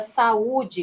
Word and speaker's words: saúde: Veja que o U tem autonomia na pronúncia, né? Ele fica em destaque. Então, aqui nós temos um iato, ou seja, temos um encontro vocálico, mas que cada vogal vai ficar em sílabas diferentes, tá bem?